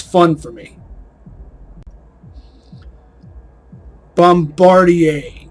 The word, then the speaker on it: Bombardier: it's fun for me Bombardier and yes that is the correct way to say it because it comes from a French name a French name that became a word this was well obviously